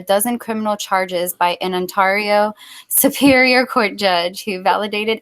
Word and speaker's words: Ontario: You said Ontario. It's Ontario.